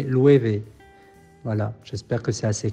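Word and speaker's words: Loewe: et le W se prononce V, donc c'est Louévé.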